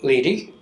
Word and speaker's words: Leedy: With me is Leedy. Is that how you pronounce it?